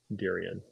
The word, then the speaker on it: Darien: Darien, like Darien Lake.